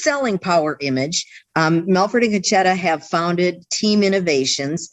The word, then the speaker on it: Concetta: Melford and his wife, Concetta, is that how you pronounce her name? Concetta, exactly.